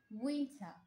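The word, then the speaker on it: winter: এরপর হচ্ছে শীত, অর্থাৎ উইন্টার, উইন্টার। এখানে আর এর উচ্চারণ সাইলেন্ট হয়ে যাবে।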